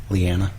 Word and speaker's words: Lyanna: What did you say her name was? Did I say the wrong name? I think you did. What did I say? I think you said Loranna. What's her name? Lyanna.